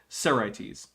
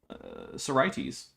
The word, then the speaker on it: Sorites: Wait, are you sure it's a schwa if that's the actual if the first syllable is the one with the primary stress and that's where we're actually putting the schwa? Because primary stress schwa is very rare. But I mean, I guess I can't say it doesn't happen.